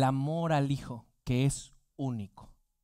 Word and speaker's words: único: Para demostrar el amor único lleva acento en la U, único hacia un hijo.